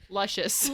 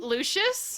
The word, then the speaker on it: Lucius: It's Lush. Luscious. What is his actual name? She said it wrong so many times I've forgotten. Lucius? Lucius, there we go.